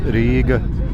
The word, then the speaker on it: Riga: Hello, my friends, and greetings from Riga in Latvia, or as we Latvians pronounce Riga, Latvia.